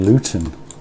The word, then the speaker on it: Luton: Well, believe it or not, I'm actually originally from Luton, dare I say it. But did you hear that? I pronounced my T's.